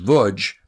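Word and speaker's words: Łódź: The Chronicle of the Lodge, L-O-D-Z, pronounced Vudge, ghetto.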